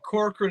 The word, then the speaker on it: Corcoran: bring i probably mispronouncing how do you say your last name sir oregon core core wren praise to say it but corcoran is the right way to stand i did